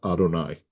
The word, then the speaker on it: Adonai: God as you know has multiple names in the Torah but the two most common are Elohim and Yudhe vave which we pronounce as Adonai.